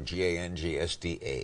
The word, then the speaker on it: gangsta: Was it G-A-N-G-S-T-E-R or G-A-N-G-S-T-A? Say it, Larry. Say it like gangsta. You mean it.